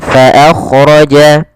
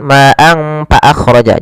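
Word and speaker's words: فأخرج: Alfa, makhraj daripada fa adalah gigi atas menempel dengan bibir bawah. Ma'an fa akhraja. Kemudian fa jangan dibaca dengan pa, jangan ma'ang fa akhraja, jangan.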